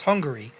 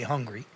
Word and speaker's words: Hungary: It's pronounced Hungary, but most people just say hungry.